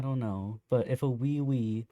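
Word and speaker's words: Ouioui: And they also have wee wee. Yeah, that spelled like O U I O UI.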